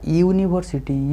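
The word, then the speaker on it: university: तो यूटा गोटे भावेल किंतु एठी ए जो यूनिवर्सिटी लिखा है ताको प्रोनाउंसिएशन केमिति हो उच्चारण केमिति हो ना यूनिवर्सिटी यू ताने वाई साउंड आसु।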